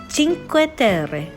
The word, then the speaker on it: Cinque Terre: eggs of europe which i just learned is pronounced cinque terre translates to five lands so we started off